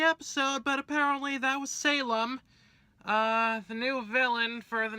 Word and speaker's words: Salem: but apparently that was Salem, the new villain for the next season, and, apparently the evil mastermind. Yeah, Salem, like the Salem witch trials, Wicked Witch of the West.